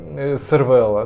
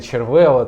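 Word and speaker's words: Cervélo: Що ви хочете від сервела Ну а та я тепер називаються сервела бо на мене на мене накинув сказали що я не так вимовляю червела типу завжди вимовляв червела що вам не подобається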